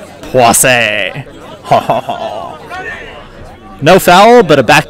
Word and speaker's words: Poissy: There's a way that pronouncing that sounds like it should be pronounced that also sounds dirty, so I'm not going to say that. So we'll say it in French. Poissy.